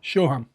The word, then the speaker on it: Shoham: Shoham. Okay. My name is Shoham, is the Onyx stone in Hebrew.